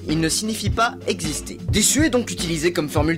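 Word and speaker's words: です: Qui le prononce en insistant sur le "u" ce qui est une caractéristique des femmes du Nord de Honshu, île de l'archipel d'Hokkaido.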